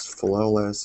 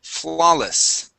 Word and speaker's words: flawless: first up we have Flawless okay instead of flawless adding the stress at the end uh stresses at the beginning flawless flawless okay one more